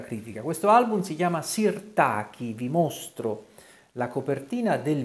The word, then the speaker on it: Sirtaki: quando Pino Mango pubblicò Sirtaki o Sirtaki Se vogliamo dirla con l'accento sulla i che un po' più alla greca che peraltro richiama anche